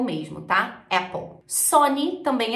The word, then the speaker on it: Sony: A pronúncia em inglês é Apple mesmo, tá? Apple. Sony também é super parecido, Sony, Sony.